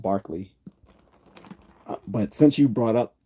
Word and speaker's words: Berkeley: of fact you know most people pronounce it wrong you know like Berkeley but it's Barkley just like David Hume